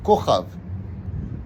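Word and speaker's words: כוכב: Kochav. Le mot Kochav s'écrit Kaf, ça fait 20 en compte numérique, chaque lettre étant empreinte d'un chiffre, et le Vav, ça fait 6.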